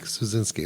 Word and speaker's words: Suszczynski: We have the Mike Suszczynski. Correct. Did I do it well? You did it well. Yay! Mike Suszczynski.